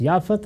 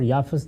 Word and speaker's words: یافت: ہے اور ایک یافت۔ یافت اور یافس دونوں تلفظ ہیں، اسی طرح سم اور